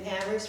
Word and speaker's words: Amherst: We know we live in Amherst where only the H is silent.